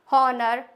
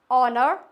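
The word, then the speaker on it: honour: हनर पढ़ते थे उसको हनर हावर तो ये हावर नहीं होता है हनर नहीं होता है नेस्टी नहीं होता है इट्स ऑनर आर और ऑनेस्टी क्लियर हो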